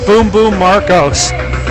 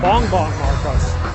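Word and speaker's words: Bongbong Marcos: vice presidential candidate named Boom Boom Marcos. Kid you not, Boom Boom Marcos. I have no idea who he is. That banging stuff. Oh, Bong Bong Marcos.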